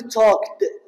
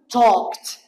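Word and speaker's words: talked: نطقتها د بلايد لكن على سبيل المثال توكت هذا التوك اذا اريد اضيف للا ايدي ما اقول توكد ولا اقول توكد وانما اقول توكت اذا الفظ وكانه تي شوف مرات الفظ ت مرات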